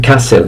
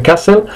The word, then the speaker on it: castle: Muchos alumnos míos me dicen castle, no, no se pronuncia castle, se pronuncia castle, castle, alright.